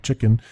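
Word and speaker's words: CHKN: keep an eye on chicken it's spelled CH hkn all caps um epistory I've been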